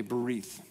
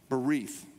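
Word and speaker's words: berith: the Old Testament is the Hebrew word bereathed okay bereith it's spelled a couple different ways b-e-r-i-t-h is one um you might see it another way b-e-r-i-t-y-h beref and bereith simply means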